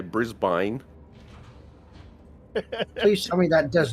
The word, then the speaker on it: Brisbane: American thing and say Brisbane please tell me that does not actually happen brisban Americans a lot of a lot of Americans say Brisbane it's Brisbane yeah uh he told